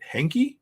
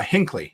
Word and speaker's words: Hinckley: Nate and Aaron's place in how do I pronounce it Henke Henke Illinois I can't say I don't know where it is here uh Hinckley there it is Hinckley Illinois so yeah so